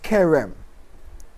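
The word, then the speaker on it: cherem: Pronounced Kerem. The C-H, pronounced like a K. Just like it's a character. Character, C-H-A, K. Same way, Kerem.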